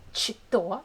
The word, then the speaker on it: что: So you see, we have что, we write что, but we pronounce it's like что. Like first letter is sh.